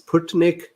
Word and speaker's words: Sputnik V: So I called it Sputnik, and V for instead of vaccine, I called it 5. So then Cool Beans corrected me that the pronunciation is Sputnik, and then it is for V for vaccine, not for 5.